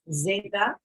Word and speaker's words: zeta: The letter Z is pronounced zeta, zanahoria.